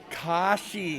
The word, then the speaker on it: Kashi: Kashi? Kashi. Like the cereal.